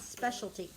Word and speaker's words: specialty: blue section speciality okay just pronounce specialty the word is special then you had a t y it is specialty specialty you know what